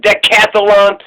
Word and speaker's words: decathlon: there's 10 things right deca decathlon or decathlon i'm putting another syllable in there it's just decathlon just three syllables so not decathlon goodness gracious so day